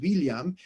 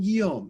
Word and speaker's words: William: He has a very unusual name, which would have been pronounced William. He was not Guillaume. He was actually William.